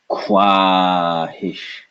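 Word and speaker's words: ख़्वाहिश: Well, if you didn't know, this is a k, followed by wa. So kwahish, kwahish, kwahish, kwahish, kwahish, kwahish, kwahish, kwahish.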